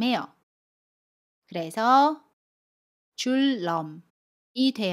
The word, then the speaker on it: 줄넘기: 한 걸음부터 천리 길도 한 걸음부터 저는 매일 줄넘기를 해요 여기에서 줄 넘을 볼게요 아침 밀 뒤에 첫소리 자음 이은의 왔습니다 그러면 첫소리 자음이 은이의 2일로 발음 해요 그래서 줄넘기 2대 요 첫소리 자음 미운 l 밀로 발음합니다